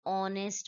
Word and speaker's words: honest: For example, an honest man. Here, even though H is there but it is silent, the sound is of O, honest man.